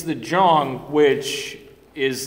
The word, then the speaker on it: Zeong: yeah nope it is it's pronounced with a J it's just like uh it's just like a lot of people call it like the zeong at the end of